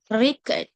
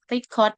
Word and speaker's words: record: Eh, the word record as noun. This is record. stress on the first syllable is highly speech only and eh record as a verb for example I will record this stress on the second syllable is higher peach on